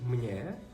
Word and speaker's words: mně: існує різниця між конструкцією мне Та конструкцією мне Як ви вже зрозуміли у вимові такої різниці не існує Але існує на письмі